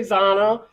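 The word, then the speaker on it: Zannah: um Darth Zan has been awesome I say Zanna some people say Z you know but it's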